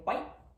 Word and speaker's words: white: It's also common with consonants like T at the end of words, like in white. So instead of hitting that T on the end, I'm just gonna say white and move on, and I'm just gonna stop that.